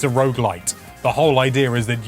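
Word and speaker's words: roguelite: Rog light as a road light can road light I knew I'd end up saying it wrong at one point it's pretty much as Rog light as a Rog light can be yes but it's not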